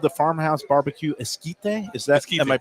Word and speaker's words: Esquite: Okay, I cannot eat the corn, but this is called the Farmhouse Barbecue Esquite. Is that, Esquite. am I pronouncing Esquite, it right?